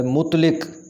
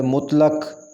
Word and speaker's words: مطلق: زیر آئے گی، ادارہ۔ اگلا لفظ ہے مطلق، یہ غلط تلفظ ہے، اس کا صحیح تلفظ ہے مطلق، مطلق، لام کے اوپر زبر آئے گی، مطلق۔ اضلاع، صحیح تلفظ